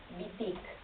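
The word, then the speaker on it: Wittig: que se llama eh el pensamiento heterosexual de una filósofa feminista que es Monique Bitic. Bitic se escribe W y latina w t y G.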